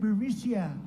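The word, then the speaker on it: Burisma: executives so these uh burmesia burmesia they say pronounce it borisia a real beautiful company vice president joe biden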